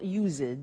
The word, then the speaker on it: used: Look at the spelling. It's U-S-E-D and then T-O. But the pronunciation is not used, it's used. Unusual.